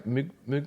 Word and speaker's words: Moog: Yeah, I feel like I'm being more pretentious saying Moog. It's Moog, weird. It's kind of like Moe and Moet.